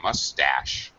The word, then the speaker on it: mustache: mustache mustache mustache yeah the here the um stress is on the second syllable so mustache Tash goes High mustache uh yes uh